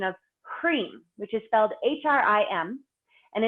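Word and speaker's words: hreem: cream which is Feld hrim and it's pronounced HR EE M and so today we're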